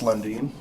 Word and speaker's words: London: Is pronounced Lundin, but Thank you. that common error as is obvious from the spelling of my name. But you got to think Swedish.